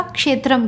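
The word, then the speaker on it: क्षेत्रम्: Pronunciation ठीक से कर लीजिएगा, क्षेत्रम कहते हैं, ठीक है।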